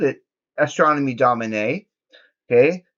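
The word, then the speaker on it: Domine: first note is okay when pronouncing astronomy Domin it is Domin is there is an act I I don't know how well you can see that but there is an accent on the last e which gives it an a sound an a sound you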